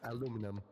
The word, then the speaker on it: aluminum: It's aluminum. Or if you're British, aluminium.